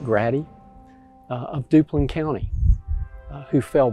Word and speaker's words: Grady: of private john grady his family pronounces it grati of duplin county who